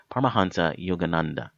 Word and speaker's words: Paramahansa Yogananda: is his name is par paranas paraha sorry paramahansa Yogananda and uh he started the self-realization fellowship in